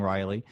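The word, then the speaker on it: Raleigh: Apparently, I say it wrong, which I stick by saying Riley, only because nobody from North Carolina can take the high road on proper pronunciation.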